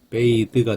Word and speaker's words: bathe: 목욕은 bath입니다. bath. 근데 이가 붙으면 동사가 되죠. 그럼 발음이 바뀌어요. bathe가 됩니다. bathe, bath, bathe. 요 쓰는 thank you 할 때 뜨고 요 드는 father 할 때 뜹니다.